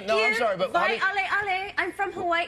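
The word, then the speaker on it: Waiʻaleʻale: How did you pronounce it again? Thank you. No, I'm sorry, but Waialeale. I'm from Hawaii. Waialeale.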